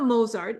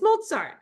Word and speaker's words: Mozart: knowledge like how to say Mozart like not moart it's mzar how do you say shopan you say shopan